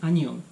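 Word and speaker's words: 안녕: So if you're talking with friends, it's more common to say just annyeong.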